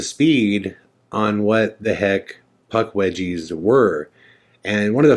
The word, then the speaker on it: Puckwudgie: back and re-watch it nobody can say the word puck budgies right I just said it wrong see right there the actual pronunciation is puck wedgies and we called it